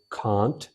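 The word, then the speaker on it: can't: तो आप जो है कैन नॉट को ऐसे लिखते हैं, इट is pronounced कांट as well as कैंट। इसको कांट भी पढ़ते हैं और कैंट भी पढ़ते हैं।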